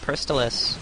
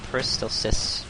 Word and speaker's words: Peristalsis: One other thing that was changed, Peristalis, or Peristalsis, rather, I always mispronounce it.